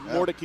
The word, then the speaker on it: Mordecai: Interesting pronunciation, the last name, but Mordecai is how it's pronounced as he takes it in for the touchdown.